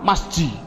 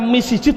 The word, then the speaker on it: masjid: Adapun depan ada tulisan mim sim jim dal, bacanya apa? Masjid. Mengapa kok dibaca masjid? Mbok dibaca misjid saja.